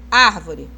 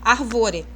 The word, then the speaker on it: árvore: Árvore. Eu nunca vou falar arvore ou arvoré, correto? Eu não falo arvore nem arvoré, eu falo árvore.